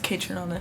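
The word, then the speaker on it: Kaytranada: or I don't even know how to say their name, but No, it's Kate Tronada.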